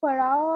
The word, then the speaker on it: pharaoh: Pharaohs of Egypt, pharaohs, ph को हमेशा f pronounce करो, ठीक है। फोन, फोन होता है ना, फोन, फोन का स्पेलिंग क्या है, PHONE, but how do we pronounce it, phone, है ना, so whenever you found ph, pronounce it with an f, pharaoh, ठीक है, okay, pharaoh